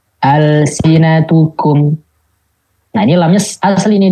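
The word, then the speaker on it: ألسنتكم: Hukumnya dibacanya izhar. Contoh, al-sinatukum. Nah ini lamnya asli nih dia nih. Al-sinatukum, bukan alif lam ini ya, tapi emang benar-benar kata dasarnya ini.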